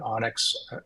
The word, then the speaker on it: ONNX: But any model that can be converted to an Onyx, ONNX is how you spell it.